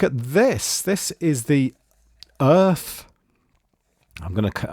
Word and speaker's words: Urth: this this is the earth I'm going to I'm going to pronounce it Earth Urth and this is a